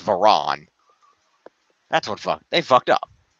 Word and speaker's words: Varon: It's not Vachon. They spelled her name wrong. It's not Vachon. It's Varon.